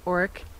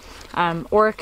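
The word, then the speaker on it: orach: Next, we have a really beautiful plant called Oric.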